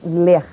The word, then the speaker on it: LER: A pronúncia correta é ler com e aberto e quer dizer lesões por esforços repetitivos.